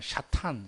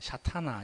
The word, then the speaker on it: 사탄: 헬라어이 우리는 마귀라 그러죠 원래 원래 발음은 사탄 샤타나 이렇게 합니다 이거 그대로 쓴 건데이